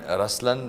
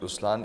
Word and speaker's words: Ruslaan: LI oh yeah okay so even in raslan when you say raslan also means the lion it's the attitude of am but the right pronunciation is rlan okay there is so